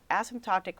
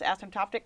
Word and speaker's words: asymptotic: Nobel Prize in Physics for the discovery of asymptotic freedom in the theory of the strong interaction. He is also a distinguished science writer and poet. Welcome, Dr. Wilczek. Did I pronounce "asymptotic" correctly?